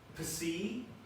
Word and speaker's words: Psi: How do you pronounce the three just below each one? Phi, F-E-E, Ki, K-E-Y, Psi, P-S-E-E. So Phi, Ki, Psi. So in sororities and things, you might say Phi, Chi, whatever.